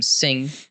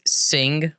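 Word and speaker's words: Singh: that they back by the last name sing and spell it very very prominent sing with an H on the end sing ha sing sing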